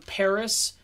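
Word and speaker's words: Perris: smart this is on Paris the record label Paris PE RR is I spell it because it sounds like Paris when you say it but it's Paris records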